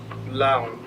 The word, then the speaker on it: Laon: It's pronounced Laon, which is a Korean word.